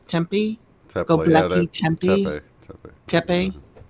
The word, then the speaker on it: Tepe: And what about Gobekli Tempe? Tepe.